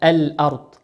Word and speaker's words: الأرض: وقول ربنا سبحانه وتعالى الأرض، الأرض، الأرض، الراء في كلمة أرض ساكنة وقبلها لام، فتنطق كيف تنطق؟ الأرض، ولا تنطق أرض.